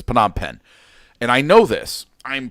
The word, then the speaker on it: Phnom Penh: did it anyways but but it's phenom pen and i know this